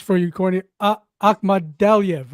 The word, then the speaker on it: Akhmadaliev: Let me pronounce for you, Corny. Akhmadaliev, right? Akhmadaliev.